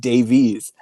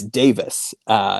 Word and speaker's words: Davies: I kept pronouncing it Davies, but apparently they don't do Davies in where he's from. So it's Davis, interestingly, which I did not originally know.